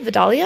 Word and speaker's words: Vidalia: are really delicious the dahlia vidalia i think that's how you pronounce the sweet onions these are